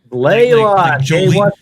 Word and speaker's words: Blaylock: Blaylock. Like Jolene Blaylock from Star Trek Enterprise.